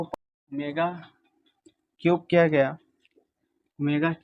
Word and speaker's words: ओमेगा: अब यहां पे इसके बाद हम लोगों को ओमेगा क्यूब किया गया।